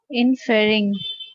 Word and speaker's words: inferring: Inferring. Inferring. Inferring. Inferring. The stress is on inferring.